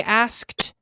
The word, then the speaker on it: asked: They asked someone else. They asked, right? The K gets that nice T sound in the past. Asked. No extra syllable, though.